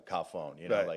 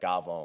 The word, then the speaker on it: cafone: It's Gavone, yeah. But why do you say Cafone? Well, that's how it's spelled, but to pronounce it is like Gavone.